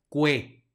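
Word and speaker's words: quae: español luego siguiente palabra aquí tenemos una Q que sigue una u la u sí va a sonar y luego tenemos el diptongo ae que suena como e por lo tanto esta palabra se pronuncia cué no vayan a decir cae omitiendo la u y y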